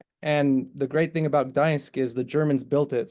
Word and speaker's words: Gdańsk: Ganst? Is that how you say it? Gdańsk.